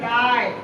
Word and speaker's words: light: और एक याद रखना, GST को हम लोग एक साथ में GHT, तीनों वर्ड को हम लोग टा से प्रोनाउंसिएशन करते हैं। जैसे MIGHT, माइट, LIGHT, लाइट, RIGHT, राइट, GHT को टा से पढ़ रहे हैं, ध्यान देंगे ना।